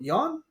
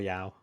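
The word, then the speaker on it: Yeoh: uh Jamie Lee Curtis um I hope I pronouncing that correctly um Michelle Yeon Michelle Yao yeah thank you uh Brandon Frazier you're right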